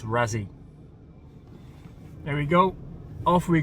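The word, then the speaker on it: Raasay: It's called It's pronounced Razi Island, by the way. Not Razi, it's Razi.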